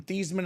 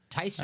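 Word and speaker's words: Theismann: and she said actually the correct pronunciation is tyan tysman uh so it's a lot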